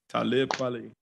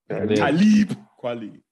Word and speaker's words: Talib Kweli: Talib Kweli. Leap. Talib Kweli. Every time I read it, it just come out Talib Kweli. Because to me, it's supposed to rhyme with Kweli, but it's Talib.